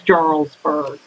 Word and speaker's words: Jarlsberg: Throughout the video, I mispronounced Jarlsberg cheese. It's Jarlsberg.